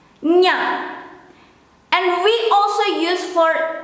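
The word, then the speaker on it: -nya: How to pronounce this is the same or similar when you have to pronounce kanye, nye. You change the e into a, nya, nya.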